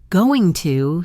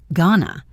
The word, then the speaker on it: going to: For example, want to almost always sounds like wanna. Going to sounds like gonna and let me sounds like let me.